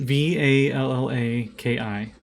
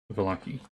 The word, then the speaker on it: Vallaki: Vallaki. So Vala, like Valhalla, Yeah. and then Ki, Valaki.